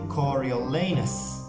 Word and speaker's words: Coriolanus: you pronounce coriolanus snow it's supposed to be coriolenus i think cory to